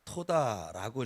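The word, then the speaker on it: תודה: 감사를 히브리어로 토다라고 이렇게 발음을 하는데 그 의미는 그 단어가 가지고 있는 의미는 감사를 드린다.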